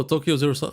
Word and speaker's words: Tokyo 03: Oh, Tokyo Zero-san. Okay, oh, so that's how you pronounce it. Zero-san, zero, sun meaning 3.